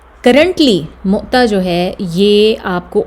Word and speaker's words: مؤتہ: مؤتہ جو ہے یہ ہم اس کو لوگ موتا، موتا، پتہ نہیں کیا کیا بولتے ہیں، لیکن اس کا صحیح تلفظ ہے مؤتہ. میم کے اوپر جو ہے وہ پیش، اور اس کے بعد واو کے اوپر ساکن یا جزم جسے ہم کہتے ہیں، وہ اس طرح سے مؤتہ.